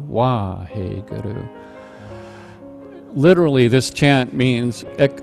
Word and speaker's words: Wahe Guru: And then the last line, it's also the first syllable. So, Wahe Guru, Wahe Guru, Wahe Guru.